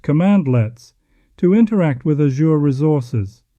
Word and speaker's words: cmdlets: At its core, Azure PowerShell uses cmdlets, pronounced commandlets, to interact with Azure resources.